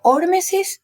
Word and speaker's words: hormesis: bien el concepto de se pronuncia hormesis así con el acento no no hormesis hormesis eh tengo entendido